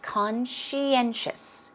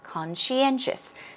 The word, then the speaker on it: conscientious: at the pronunciation it's conscientious conscientious the end stress is a bit stronger than con conscientious and it means faithful